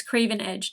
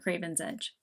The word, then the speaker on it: Craven Edge: craving more oh and it's Craven Edge not Craven's Edge that's the one thing